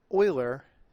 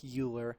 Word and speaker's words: Euler: today euler's method now euler is probably the most mispronounced name in mathematics yes i know it looks like euler it is pronounced euler like oil with an er at the end euler was a swiss